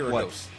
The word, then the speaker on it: Kyrgios: I always say his name wrong. Nick Kyrgios.